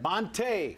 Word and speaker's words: Montee: advisory so all right bonte with the accent on the second day I like it it